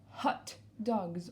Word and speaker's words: hot dog: des rolling deux ans hot dogs on n'oublie pas de prononcer le hb doggs hot dog sur la